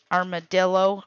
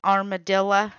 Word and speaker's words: armadillo: even comparable to that armadillo armadilla am I saying it right d Dill with an O on the end armadillo but then again depending on